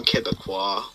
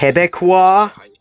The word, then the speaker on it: Quebecois: There's also Quebecois, which is what you pronounce. Which is how you say someone from Quebec. It's also how you pronounce. Quebecois?